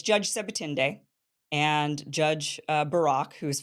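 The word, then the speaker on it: Sebutinde: I I practiced how to say this SE seend so it's judge seend and judge Barack who is from Israel seend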